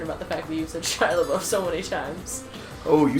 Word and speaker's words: Shia LaBeouf: a booth concern about the back views and shia labeouf so many times oh you said it right